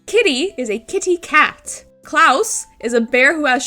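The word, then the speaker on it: Klaus: Klouse is a bear who has sharp claws. Klouse and claws are supposed to sound similar to one another.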